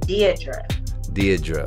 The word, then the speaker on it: Deadre: So it's actually supposed to be pronounced Deidre.